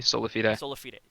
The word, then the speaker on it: Solafide: larger narrative points that sulphide have introduced into this into this scene again is that there's a stoppy right there can you please pronounce it correctly so lafitte okay sure sorry about that